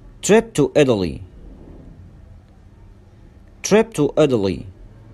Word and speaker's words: Italy: Number 7, trip to Italy, trip to Italy, trip to Italy, trip to Italy. وهنا التاء نطقناها داء ساوند مش تاء ساوند لأن هي جت بين two vowels بين حرفين متحركين.